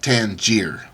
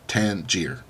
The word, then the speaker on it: Tanger: pronounce that and uh basically Tanger like t a n j r you know Tanger is how you would say that at least for English people um so let me